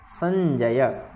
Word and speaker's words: संजय: नया, तो की मकुर्वत संजय, ठीक है। इसमें कोई अलग उच्चारण नहीं है संजय का, वही उच्चारण है जो हम बोलते हैं संजय, बस या का पूर्ण उच्चारण करना है, ठीक।